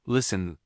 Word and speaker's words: listen: Or the word listen, the T is silent.